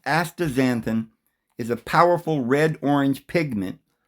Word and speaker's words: astaxanthin: Astaxanthin, pronounced astaxanthin, is a powerful red-orange pigment belonging to the carotenoid family.